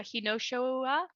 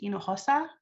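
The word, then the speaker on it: Hinojosa: is uh hinosho um i'm gonna ask you to mute um my last name was pronounced inujosa and you should utilize your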